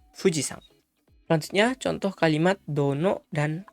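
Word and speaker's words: 富士山: Di sini saat berdiri sendiri dia dibaca yama. Tapi saat berpasangan dengan nama gunungnya cara bacanya akan berubah menjadi sang. Jadi gunung itu yama tapi gunung fuji dibaca fujisang.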